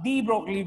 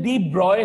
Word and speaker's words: de Broglie: अच्छा, actual pronunciation डी ब्रॉय है. Actual pronunciation इसका नेम का डी ब्रॉय है, लेकिन क्योंकि हम इजी वे में याद रख सके और एग्जाम के अंदर आपको लिखना भी होता है तो वो चीज आपके माइंड में बैठी रहे, इसलिए मैक्सिमम सभी लोग इसको डी ब्रॉगली ही प्रोनाउंस करते हैं, डी ब्रॉय.